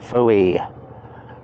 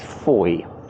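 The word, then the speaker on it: Fowey: Reads Foy. Oh, correct pronunciation is Foy, so miss out the middle bit basically.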